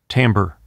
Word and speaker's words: timbre: timbre. It's often mispronounced because of its spelling.